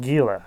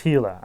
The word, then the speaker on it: Gila: the giant hila monster no it's not pronounced Gila it's hila I'm pretty sure well then why does